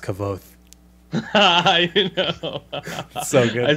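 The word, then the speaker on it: Kvothe: He goes, "It's pronounced Kavoth."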